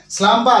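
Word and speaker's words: slumber: এস এল ইউ এমবি আর উচ্চারণটা হচ্ছে স্লামম্বা দন্তসাল আকার মহব্ব আকার স্লামম্বা এই স্লামবা কি হতে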